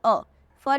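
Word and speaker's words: œuf: होता है ठीक है इसकी साउंड होती है अ for example अफ अफ अफ का मतलब एग ऐसा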